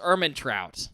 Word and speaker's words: Ehrmantraut: He played Mike Ehrmantraut from Breaking Bad. Mike Ehrmantraut? Yes, Ehrmantraut.